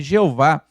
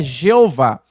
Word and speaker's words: Jeová: ou eu sou é Jeová e ela aparece na Bíblia 6.823 vezes então um nome muito usado no antigo testamento meus irmãos uma curiosidade a pronúncia Jeová ela Surgiu da junção